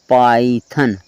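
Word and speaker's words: Python: लिखा है पी वाई टी एच ओ एन पाइथन आई के आवाज निकाला वा से पहले क्या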